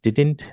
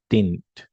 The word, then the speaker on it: didn't: कर रहे हैं, तो इसको हम डिडंट नहीं बोलेंगे, ये डी साइलेंट रखेंगे. सो कैसे प्रोनाउंसिएशन आएगा जब शॉर्ट फॉर्म यूज कर रहे हैं आप? डिडंट. Okay, so you will say डिडंट.